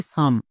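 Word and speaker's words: some: আছে যেমন এস ও এম ই এর জন্য উচ্চারণ হয় সাম সোম কিন্তু না আমাদের নিয়ম অনুযায়ী এস এর জন্য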